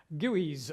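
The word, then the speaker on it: GUI: called video number one an introduction to gooeys as we pronounce some graphical user interfaces so as I'm sure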